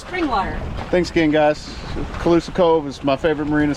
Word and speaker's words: Cauloosa: Those nice lightweight from, how do you pronounce it? Cauloosa.